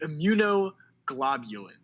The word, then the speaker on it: immunoglobulins: and the strongest, most common ones are the immunoglobulins. Sorry about that pronunciation. Immunoglobulins. Yeah, the immunoglobulins.